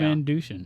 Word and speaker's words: Van Dusen: Van Dusen. Yeah. But I joined. It's more of a Z than a sh.